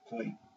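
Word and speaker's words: Khoe: The green color, the Kor, or pronounced Kway, are the pastoralists.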